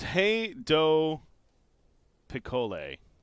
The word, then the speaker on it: Rei do Picolé: Anyways, it's Hey Do Picole is how I'm being told to pronounce it.